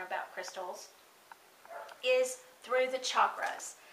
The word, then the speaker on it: chakras: is through the chakras now that's spelt CH a think about it Chuck k-ras so CH a k-ras now a lot of people including me will say chakras that's okay it's technically really supposedly pronounced chakras so you may hear me